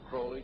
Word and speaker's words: Crowley: He likes to have his name pronounced Crowley to rhyme with holy.